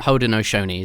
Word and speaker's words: Haudenosaunee: We shorten a lot of the, but yeah, that Haudenosaunee is how you pronounce it if you're struggling.